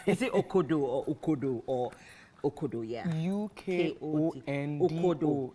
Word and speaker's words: ukodo: Is it okodo or ukodo or okodo? Yeah. U-K-O-N-D-O. Okodo. Yes. Okodo. Okay, yeah. So yeah, my director is telling me right now that it's pronounced as ukodo.